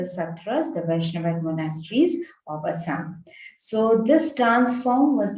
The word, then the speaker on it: Assam: and mentoring so many hundreds of students across Assam and also outside. And whenever we talk about Sattriya dance, so Sattriya this is how we pronounce it in Assam, in Assamese, which gets translated in English into Sattriya.